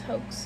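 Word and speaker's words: Haux: H A U X. Hoax I think is how you pronounce it.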